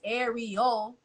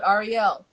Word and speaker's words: Ariel: is Ari Renee but my name is Ariel and some people are like or is it Rel and I'm like they're both the uh just a different pronunciation of the same name like when I'm in Europe I'm called Arielle when I'm in the states I'm called both like I forgot you like